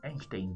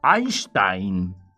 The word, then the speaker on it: Einstein: Está al me dice, "Che, ustedes dicen mal, dicen Einstein, pero es Einstein. La I se pronuncia ahí."